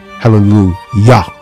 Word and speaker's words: Hallelujah: See, it doesn't matter how you spell it. Hallelujah, Hallelujah. It's still pronounced Hallelujah, Yah. It has the Yah on the end.